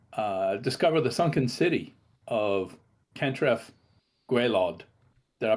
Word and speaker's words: Cantref Gwaelod: to help him discover the sunken city of Cantref Gwaelod. Did I pronounce that right?